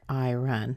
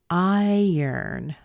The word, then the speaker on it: iron: isn't that at all it's not I run listen again I yearn I yearn doesn't it sound like the R is towards the end instead of in the beginning it actually sounds like I okay that's the same but look ern I stressed ern it's almost like you're saying I earned money except the stress